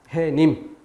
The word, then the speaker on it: 해님: 뒤에 조건에 해당되지 않기 때문에 이것은 사이소리가 아닌 것이고, 그렇기 때문에 이것을 발음할 때 니은음을 넣어서 햇님이라고 발음하지 않고, 또 표기할 때 시옷을 넣어서 표기하지도 않는다. 해님.